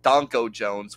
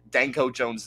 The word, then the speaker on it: Danko Jones: Me by Danko Jones, or as Coachman says it's pronounced Donko Jones, which I'm sorry, no, that's incorrect. Danko Jones is a much funnier name.